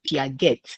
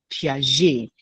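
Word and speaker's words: Piaget: Most students will pronounce it as Pette because it is spelled P I A G E T. But it is a French name. So it is pronounced P.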